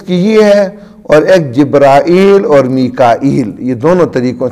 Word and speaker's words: جبرائیل: تو اسی طرح ہمارے ہاں اردو کے اندر چونکہ جبرائیل اور میکائیل جو ہے نا اس کا تلفظ مشہور ہے، تو جو بات مشہور ہو وہی کہنی چاہیے، وگرنہ جبریل پڑھنا بھی غلط نہیں ہے، ٹھیک ہے، اور میکال بھی.